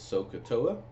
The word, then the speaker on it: SOHCAHTOA: Some people may pronounce it as SOHCAHTOA, but the SOH means it refers to the sine being opposite and hypotenuse.